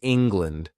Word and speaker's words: England: The pronunciation is England, not land, but lend.